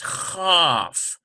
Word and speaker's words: Chaf: Its twin, however, does not have a dot, and so it's Chaf. And it's sort of transliterated like this, C-H-A-F. There's no dot in there, so it's softer.